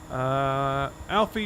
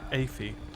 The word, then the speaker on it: Afie: PS, it's Alfie, not Afie. Lol. I actually read it as Alfie, so even though it is spelled Afie.